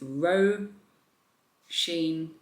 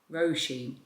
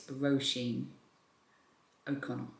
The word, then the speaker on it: Roshene: a fantastic job and the author's name is Ro Sheen Roshene. A few people told me how to pronounce it correctly in the comments and I'm pretty sure it's Roshene Okon.